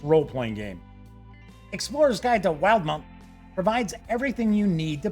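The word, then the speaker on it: Wildemount: see the release of the Explorers guide to wild Mount yes I actually went and found out how to pronounce that name it's wild mount for Dungeons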